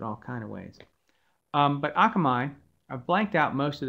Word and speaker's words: Akamai: um how to pronounce that i used to pronounce it all kind of ways but akamai i've blanked out most of the chart so